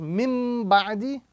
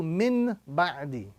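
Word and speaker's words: مِنْ بَعْدِ: The pronunciation we get is mim ba'di as opposed to min ba'di.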